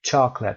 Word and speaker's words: chocolate: For example, the middle E in vegetable and the second O in chocolate.